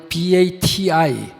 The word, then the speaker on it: Kiribati: 제가 가봤습니다 극히 리바스 라는 나라가 있죠 영어를 kiribati 키리바시 t 이렇게 되는데 발음을 치 리바스 듣기 하고 마샬 아일랜드 이런